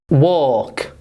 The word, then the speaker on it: walk: W or walk. Do you see an L there? No. So it's a silent L.